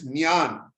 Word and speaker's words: Gyan: No, that word Gyan, Nyan, actually it's not, the G is silent, it's Nyan.